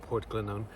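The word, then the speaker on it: Portglenone: It looks like Port Glenn 1, but pronounced Port Glennon.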